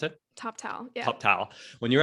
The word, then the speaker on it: Toptal: But you managed when you were at TopTal, is that how you pronounce it? TopTal, yeah.